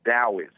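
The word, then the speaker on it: Taoist: your dallas area no not dallas i said daoist oh daoist as in that like no it's spelled talbot like taoism but it's pronounced taoism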